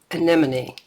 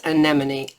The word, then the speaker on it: anemone: It is anemone. It's anemone. A-N-E-M-O-N-E. Anemone. Anemone. So anyway, enjoy pronouncing. It's anemone.